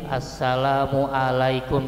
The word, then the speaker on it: Assalamualaikum: matatullah yang kedua ini Ain jangan kayak Alif Assalamualaikum Tidak asalamu alaikum a terus yang ketiga ini kumnya jangan panjang kum jangan kumnya pendek Oke makasih ya apalagi bacanya Asalamualaikum jangan lanya ini panjang Assala ya Asalamualaikum warahmatullah